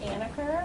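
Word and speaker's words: Anacker: do thank you yes my name is anniker my last name is spelled a-n-a-c-k-e-r thank you people you're witness thank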